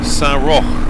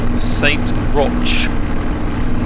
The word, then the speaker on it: Saint-Roch: Spelt Saint Roch, but I would imagine that's spelt or pronounced Saint-Roch. Not Loch, Roch. I don't know. If you're French, how on earth would you pronounce R-O-C-H? Saint-Roch, peut-être.